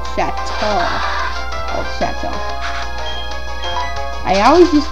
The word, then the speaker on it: Chateau: Yeah, it's an old shadow of itself. Nah, it's Old Chateau.